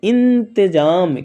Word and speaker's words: इंतजाम: अंडमान ठीक है इन थ इन जा अमो जाम क्या पढ़ेंगे इंतजाम क्या फ्रेंड्स तो इंतजाम वैसे ही अत अत